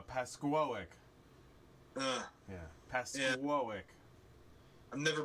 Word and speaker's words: Pascoag: to say the town pascoag oh no no it's uh uh pasquoic uh yeah pasteuric i've